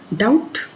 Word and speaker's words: doubt: Doubt, B is silent.